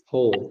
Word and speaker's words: whole: Take me to A Whole New World nah kata whole di sini dibacanya bukan W tapi ho ya semacam kita pronounce lubang ya sama-sama Ho Oke let's do this